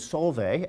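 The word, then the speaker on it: Solveig: my wife's name is Solvay s-o-l-v-e-i-g she is half of Norwegian Heritage the g at the end is silent if you are not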